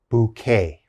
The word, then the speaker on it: bouquet: that's called a bouquet bouquet this has a k sound bouquet the next word cabaret